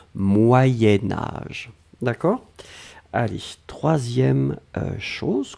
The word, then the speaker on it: moyen âge: alors moyens moyens4 sion quand on va le blier avec âge on va faire ce petit modification de prononciation on va dire moyenne moyen-âge d'un c'est pour ça que vous avez peut-être entendu moyenne mais en fait on écrit moyen moyen âge va être prononcée moyen-âge d'accord allez ce